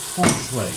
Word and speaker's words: Feng Shui: Feng Shui, to tak się tam powinno wymawiać.